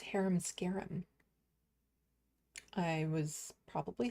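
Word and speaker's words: Harem Scarem: Oh, it's pronounced haram scarum.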